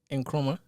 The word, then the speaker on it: Nkrumah: Kwame Nkrumah. What's the last name? Nkrumah. How you say that? How you spell it? Nkrumah. Yeah, you got it right.